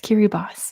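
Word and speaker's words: Kiribati: Kiri boss. So when they got independence, they went by Kiri Boss, but it's spelled like that. It's spelled with an I at the end.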